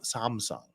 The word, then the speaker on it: Samsung: sorry a Samsung device if you're if you're not from Korea Sam Samsung is the is the proper pronunciation switch from a Samsung